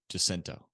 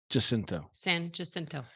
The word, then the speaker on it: San Jacinto: actually pronouncing it uh Jacinto just Oh you mean they pronounce the j in it Jacinto San Jacinto it's just like uh